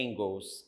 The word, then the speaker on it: Engels: inglês nós vamos ver é inscrito engels né com a sócia de anjos mas é ingles esse pronúncia o socialismo científico é